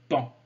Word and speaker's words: paon: Alors on prononce un pan, P-A-O-N, mais pan. On ne prononce pas le O.